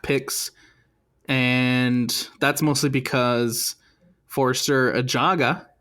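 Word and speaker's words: Forster Ajago: And that's mostly because Forster Ajaga, I found out that's how you say his name. It's actually Forster Ajaga, His paperwork not ready yet at the time of this match.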